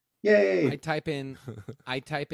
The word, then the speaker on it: Ye: i did know that yay like that that's how he pronounces it right yay i type in i